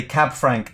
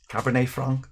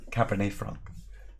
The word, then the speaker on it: cabernet franc: people i think in this context greg say cab frank instead of cabernet franc is that better greg as it should be pronounced cab is a taxi that's true what